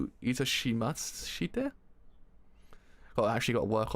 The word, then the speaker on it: itashimashite: Is it doshimaste?